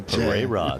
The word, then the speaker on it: Pereira: Some pronunciation there. Pereira, that is the correct pronunciation, team.